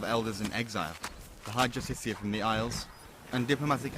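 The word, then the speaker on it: Justiciar: He's a Justicar, a Thalmor. It's pronounced Justicia.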